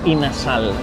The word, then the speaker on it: inasal: Pero por la pronunciación de los filipinos aquí, terminó siendo in a sal, que básicamente es pollo asado.